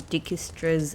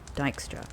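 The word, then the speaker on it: Dijkstra: of politics seeped in Dickistra's aggressive no holdsbred reason of state first principles. Sorry, Dystra. Dystra cuz I'm sure it's kind of like a Dutch pronunciation.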